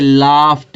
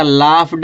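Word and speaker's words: laughed: ठीक है, इसे लाफ्ट है, इसको लाफ्ट पढ़ेंगे, लिखा जाता लाफ्ड अब पढ़ा जाता लाफ्ट।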